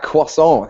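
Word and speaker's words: croissant: I say the word quason nicely ah quason is the correct cor correct pronunciation as opposed to cant if you're a lazy American and don't say my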